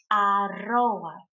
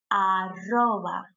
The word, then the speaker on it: arroba: Now the at symbol or the at sign, it's pronounced in Spanish arroba, arroba, and dot is punto.